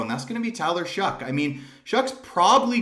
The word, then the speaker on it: Taysom Hill: And, you know, they took this player, no matter how much you like or dislike Taysom Hill. Yes, that's correct pronunciation, if you guys didn't know.